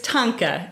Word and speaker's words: thangka: have that hesitancy because people do often mispronounce it because it's a particular transliteration system but it's Tonka it's usually spelled t